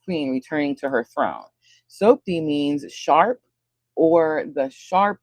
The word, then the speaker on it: Sopdet: It's spelled S O P D E T. Sopdet. Sounds like Sophie but with a D.